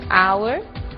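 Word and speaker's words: hour: O som do H. Pronunciado desde a garganta, como em hotel, e mudo em 3 casos: our, honest, honor.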